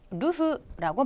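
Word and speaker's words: 流: 류 자는 음독의 류지아 근데 유포라 한자가 될 경우에는 류가 아니라 루라고 발음해야 된다 요거 한번 주의하셔야 되겠습니다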